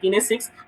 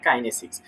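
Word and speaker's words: kinesics: আচ্ছা, কিনেসিক্স মুভমেন্ট, উচ্চারণটা হচ্ছে সঠিক কাইনেসিক্স।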